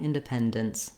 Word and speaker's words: independence: We're just going to move quickly from the D to the N sound with very little or no vowel, independence, dence. But I think sometimes seeing it written just with DNS doesn't really help the brain know how to say it. So just notice that when I say my D sound and then my N sound, there's a little bit of voicing in between.